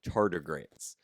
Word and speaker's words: tardigrades: piglets but the scientific name for them is tardigrades that's spelled t-a-r-d-i-g-r-a-d-e-s tardigrades but honestly the scientific name for me